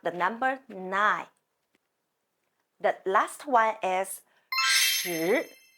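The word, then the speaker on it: 九: 9 means 9. It sounds like English name Jewel. 9. My hand can go like this. 9. 9. It looks like the number 9.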